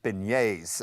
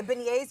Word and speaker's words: beignets: Well, today we are making air fryer beignets.